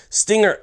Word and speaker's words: STNGR: it's from a company called Stinger USA it's spelled St NR now Stinger USA has actually